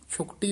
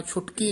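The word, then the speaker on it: ਛੁਕਟੀ: गुर सतगुर पाछे छुकटी, ए भी छुकटी उचारण करना है, छुटकी नहीं कहना है।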